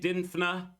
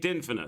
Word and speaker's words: Dinfna: Okay, St. Dinfna, so I'm not saying it wrong. That's how they say it.